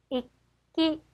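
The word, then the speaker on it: 一気: 익기, 익기입니다. 그래서 키, 가 뒤에 오기 때문에 쌍기역 정도 발음이 될 거고요. 자, 뒤에 오는 글자의 대표 글자 기역이 앞으로 가서 받침이 됩니다. 그래서 익기가 되는 거죠.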